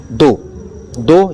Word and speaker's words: though: दो यद्यपि हालांकि मतलब THOUGH का उच्चारण अधिकतर आप लोगों को फा के रूप में दिखाई देता है, लेकिन यहाँ पर THOU इसको दो के रूप में पढ़ेंगे।